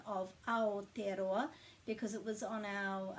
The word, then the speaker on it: Aotearoa: the vowels and then we just put a break after every vowel so if you know simon bridges please let him know how to pronounce and anyone else who thinks it's a tea arowa because there's no point